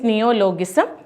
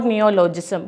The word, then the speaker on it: neologism: First one is neologism or neologism, both can be pronounced.